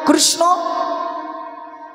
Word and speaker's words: কৃষ্ণ: মায়েরা একবার বলুন তো কৃষ্ণ কৃষ্ণ কৃষ্ণ না কৃষ্ণ এই যে উচ্চারণ এই উচ্চারণটা করতে হলে আপনার জিউহা আপনার রসনা বা জীব দেখবেন নৃত্য করবে কৃষ উচ্চারণের সময় থরথরথর করে দেখুন জীবটা নড়বে একবার আবার আবার পরীক্ষা